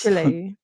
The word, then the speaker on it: Chile: Probably didn't pronounce that correctly. It's Chile, right? It's Chile.